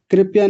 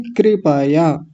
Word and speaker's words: कृपया: कृपया नहीं, कृपया।